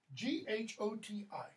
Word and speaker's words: Ghoti: sound sorry what's this Ghoti I mentioned George Bernard Shaw George Bernard Shaw advocated spelling reform Shaw was wonder if I remember correctly came up with this it's the same pronunciation as fish Shaw said just makes